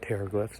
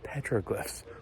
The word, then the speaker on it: petroglyphs: saying it wrong and it's not terriglyphs it's petroglyphs because I misread things